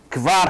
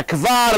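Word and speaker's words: כבר: هلا كبار لاحظوا كيف تنكتب. كاف بيت تلفظ في مع ريش.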